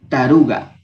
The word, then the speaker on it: taruca: aquí cambia la pronunciación se escriben taruca pero se pronunciará está lugar sí taruga el siguiente que lo